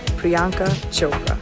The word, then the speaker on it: Priyanka Chopra: My name is pronounced Priyanka Chopra.